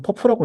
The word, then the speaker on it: PUF: 보통 퍼프라고 읽는다고 하고 이런 식으로 사용한다고 합니다.